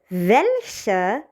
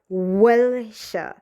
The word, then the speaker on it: welche: Welche means which. Welche means which. And please do not pronounce it like welche. No. Welche. Quite v sound.